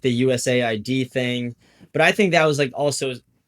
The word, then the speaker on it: USAID: like yeah, it wasn't US aid. It was like USA ID.